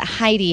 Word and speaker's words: Hidy: Heidy. Heidy is spelled Hidy, and absolutely, we'd love to have you back.